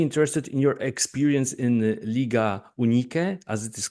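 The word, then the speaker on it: Liga Unike: And I'm especially interested in your experience in Liga Unique, as it is called, how we pronounce it, which combines like Albanian and Kosovian teams playing Hmm.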